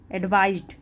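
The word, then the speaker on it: advised: हो गई second form एडवाइज्ड last में ड प्रोनाउंस होता है गोल्डीलॉक्स यानी कि गोल्डीलॉक्स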